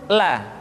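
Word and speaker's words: ل: Selanjutnya huruf la diucapkan dengan mengangkat ujung lidah kita, dengan disentuhkan dengan langit-langit. Di depan pengucapan huruf ra, la, li, lu, bal.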